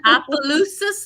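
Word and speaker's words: Opelousas: be at spirits on Main Street that's in opalus Louisiana I think I said that right did I say it right ask that question where's Marcy at Marcy how you say it Appaloosa Louisiana and then um that'll be January 20th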